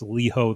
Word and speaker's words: Liho: enough to tell us how to properly pronounce it. It's Liho the Lion.